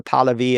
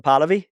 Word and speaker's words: Pahlavi: I don't know if the right circumstances are a constitutional monarchy with Reza Pahlavi as the crown prince or the Shah.